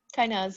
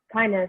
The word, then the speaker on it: Kainaz: Kind of just thinking about what Jean and, I'm sorry, Kainaz, did I pronounce that right? Kainaz, yeah. Kainaz, okay, good.